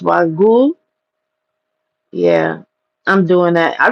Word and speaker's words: wagyu: But listen, I'll pay someone wag it's pronounced wagu.